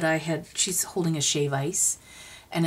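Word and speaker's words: shave ice: had she's holding a shap ice and it's not shaved ice it's shave with no D on the end that's how it's pronounced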